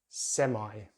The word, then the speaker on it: semi: They use the I diphthong, so it's semi, semi, but in British English it's semi, semi.